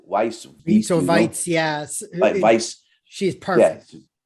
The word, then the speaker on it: Weisz: Rachel Weisz, or how do you pronounce her last name? Weisz.